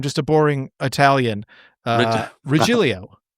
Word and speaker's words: Regilio: Uh Rilio. Rillio. Yeah. my my good friend Rob uh Miralia. So that's how we we don't we pronounce the G differently.